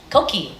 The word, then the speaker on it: Koqi: And did I pronounce it correctly? Koqi.